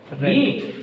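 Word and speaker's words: read: टू रीड, about की third form रीड, रेड, रेड, लेकिन spelling same रहती है, ओके।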